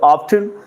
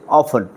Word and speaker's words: often: फॉर ऑफन ऑफन रो दुईटा pronunciation अछि पिले गोटा होछि ऑफ्टन आ गोटा होछि ऑफन दुईटा जाक correct Oxford advance learner English dictionary आम जो देखा दुईटा जाक accepted pronunciation in English so often and often both can be pronounced okay so for oft when